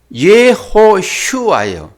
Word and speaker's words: 예호슈아: 해요 야샤 예호와 그리고 여호수아도 정상적으로 보면은 예호슈아예요 예호슈아 그리고 이것을 이 헬라어로